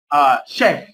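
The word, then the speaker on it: chef: الانجليزيه من اصل فرنسي، طبعا يختلف فيها النطق، ويكون السي اتش تنطق كانها سي اتش، يعني ما تنطقش اتش، لا تنطق شيف، شيف، الشيف اللي هو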